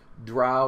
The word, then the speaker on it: Drow: Drow or Dro, depending on how you want to pronounce it.